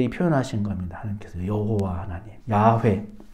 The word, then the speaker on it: 야훼: 하나님께서 여호와 하나님, 야훼, 야훼라고 발음이 되고 이제 여호와다데 이제 이 이름이 어떻게 채워지냐?